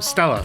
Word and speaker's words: STLA: the stla brain platform chrysler pronounces that acronym stella by the way but